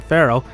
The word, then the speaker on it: Pharaoh: Egyptian culture Ted's surname Pharaoh is pronounced like the word feral the title used by